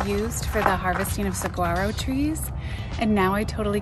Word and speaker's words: Saguaro: It's Saguaro. Saguaro.